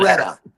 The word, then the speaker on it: Alpharetta: Alpharetta. Alpharetta. Okay. We were talking about we were talking about pronunciations earlier.